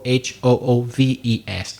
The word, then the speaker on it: hooves: FS is correct or h oo ves and slightly different pronunciation so you can say hoofs with F or hooves with V both are accepted in that case so